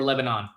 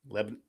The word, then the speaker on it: Lebanon: By the way, do you pronounce it Lebanon or Lebanon? Lebanon. Okay. Yeah, Lebanon. You have to do like the Midwest, like Lebanon. Something like Lebanon.